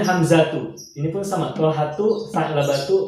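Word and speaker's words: حمزة: Pertama Hamzah, bacanya Hamzatu.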